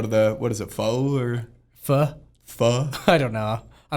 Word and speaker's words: pho: And then we can go to the, what is it, pho or? Pho? Pho? I don't know. I've heard the argument. It's not pho, P-H-O. It's pho.